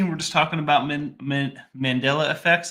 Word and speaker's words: Mandela: just talking about man mandella effects I always say mandala but that's not the right way to say it I guess and the